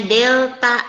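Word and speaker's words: Δ: Ini bacanya segitiga, itu bacanya delta L.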